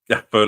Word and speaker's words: Gakpo: you need to roll the G, you know what I'm saying, instead of forcing it because it sounds weird when you guys try to say it like that. You know what I'm saying? Gakpo. Yeah, just let it roll.